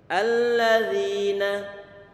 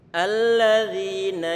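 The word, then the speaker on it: الذين: Kalau nanti mau mengucapkan dha yang keluar adalah dzal, jelas merubah arti. Jelas? Kita lanjutkan. Alladzina. Ini dzal dia tipis.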